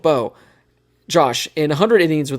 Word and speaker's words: Beau: His first name is spelled B-E-A-U. So I'm going to go with Beau. Maybe he's creative and it's like B-O, or Boo, No, something like that. But Beau. we're going to go with Beau.